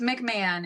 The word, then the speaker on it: McMahon: It's McMahon. It's it's a bastardized pronunciation of a very Irish name. Okay. So, you don't really hear the H at all.